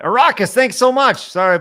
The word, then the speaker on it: Arrakis: I've been saying Eric Hyas for forever, but thanks. Because it's the Dune thing. What is it? Arrakis? Yeah. All right. Arrakis, thanks so much.